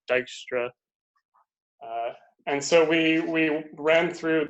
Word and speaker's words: Dijkstra: So this is an algorithm due to the, I think, Norwegian mathematician, I believe the way you pronounce this name is supposed to be Dijkstra.